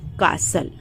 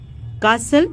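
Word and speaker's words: castle: Next word है कासल। कासल means महल। कासल में टी जो है साइलेंट है, कासल मीन्स महल।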